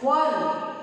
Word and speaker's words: one: That means, like here example I have given, one. While pronouncing, what? How is it? It is pronounced W. The sound of W is being created when we pronounce one.